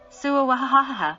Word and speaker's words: Swa: The mantra s swa is pronounced as follows. Sua sua.